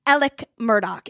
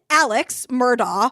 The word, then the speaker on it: Alex Murdaugh: so it's elic it's elic Murdoch it's written Alex Murdo but it's elic Murdoch like e l i c k elic Murdock is how you're supposed to pronounce this guy's name look I love you